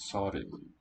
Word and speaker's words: 서른: The double letters make the word spelled quite long, but it's just a short two-syllable word, 서른.